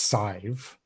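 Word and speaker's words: Sadhbh: Well, that's pronounced Sive, right? And it makes complete sense. Okay. Yeah, like 5 with an S at the start instead of the F.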